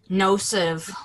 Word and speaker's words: nocive: Nocive.